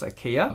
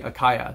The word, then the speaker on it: Acaia: the brand name akaya so as you noticed from the previous videos i have always thought that the pronunciation of the brand was ikea as it turns out it's actually akaya so while i try